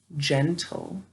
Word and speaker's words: gentle: gotcha say in gentle good g followed by e i or y may say j all right so let's